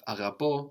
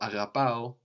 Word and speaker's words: αγαπώ: We could have αγαπώ or αγαπάω, I love, also with the accent on the end.